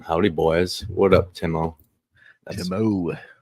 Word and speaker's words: Timo: Timo. That's the proper pronunciation.